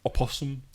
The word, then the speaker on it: opossum: which is obvious yeah possum plays dead opossum a person because it spelled with another at the beginning which i wasn't aware